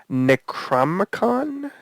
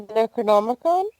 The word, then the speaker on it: Necronomicon: I read um I didn't know this one necron is that how you pronounced it oh the Necronomicon Necronomicon okay some people are like maybe it's